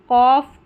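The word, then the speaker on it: cough: अब आगे है जी एच फ की ध्वनि देता है। यानी कि इसको फ भी हम पढ़ते हैं। जी एच का साउंड फ आता है कुछ वर्ड्स में।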